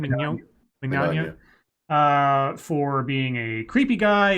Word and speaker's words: Mignogna: Mignogna.